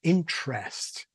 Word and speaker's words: interest: You find southern Brits today will tend to say interest with a strong vowel in the second syllable.